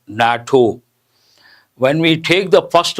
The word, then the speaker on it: NATO: And here I have pronounced it as a word, NATO.